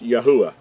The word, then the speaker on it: Yahuah: referring to our creator whose name is accurately pronounced yahuah the third letter gives us the the sound